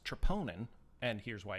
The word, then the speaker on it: troponin: let me explain to you that that's actually pronounced troponin and here's why it's important it's stripping and by the way yeah the doctor said my trip anion is high it but it's just as a